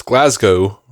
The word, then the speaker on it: Glasgow: impression I'm not but the fact you pronounce Glasgow right the first time so it rhymes with show and not cow strengthens my claim you